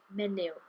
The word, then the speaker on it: menyw: And the end of the word menyw, menyw. Okay. Now you can get away with not pronouncing that if you're speaking in Cymraeg there,